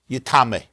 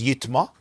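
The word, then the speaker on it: יִטְמָא: the pasuk says yitma, but it could be pronounced yitame. Even though the right pronunciation is yitma, kala oichel asher ya'achel asher yavay alav mayim yitma, but it could be pronounced yitame.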